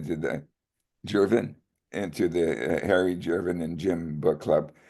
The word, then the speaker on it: Gervin: Sometimes for me I pronounce it as Jervin. Oh Jerwin. Oh just the way Jim says. Okay. Jerwin. Okay. So Harry is wrong and Jerwin is right and also Jim is is right as well.